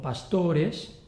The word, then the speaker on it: pastores: Si la penúltima sílaba tiene la vocal larga, como pastores, la palabra es llana.